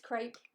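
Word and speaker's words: crêpe: crap yes it is it's pronounced crep uh but i've never been able to get into that i've never been able to get into that so it's crepe for me um colleen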